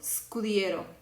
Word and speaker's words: scudiero: Entonces, lo que vamos a hacer es pronunciarlo ska, sko, sku. ¿Ok? Ska, sko, sku. No lo vamos a pronunciar ska, esco, escu, porque no hay una E antes de la S. Como no hay una E, solamente se suena la S. Por eso vamos a pronunciar scala, scómodo, scudiero. ¿Ok?